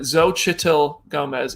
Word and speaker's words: Xochitl Gomez: Xochitl Gomez is the correct pronunciation, says Julia Delbell.